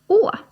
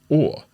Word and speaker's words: å: And the first of these is the 'a' with a little circle on top and you said that is pronounced, how? - 'å'. - 'å'.